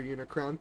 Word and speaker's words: Unicron: I didn't mispronounce it this time. Hello, Reaper Unicron. Thank you for the raid. Welcome in. Hello, how are you doing? I read it as unicorn.